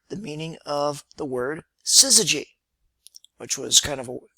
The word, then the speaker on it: syzygy: meaning of the word syzygy which was kind of a cool word it has six letters three syllables and quote no vowels if you don't count y as a traditional vowel so what is a